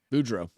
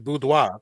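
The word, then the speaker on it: Boudreaux: that right budra yeah if it's French it's budwa that r e Au U is w it I mean maybe but that's what I'm saying it's not but it's French it's not French it's it's French and it's Cajun it's it's a mix that's why it's it's pronounced differently it's budro and any french person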